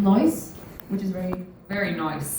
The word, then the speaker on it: Neuss: Today we are in the beautiful city of Neuss. Did I pronounce it correctly?